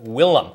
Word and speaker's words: Willem: your apartment and uh willem is how it's not it's spelled like william but willem what's his name don't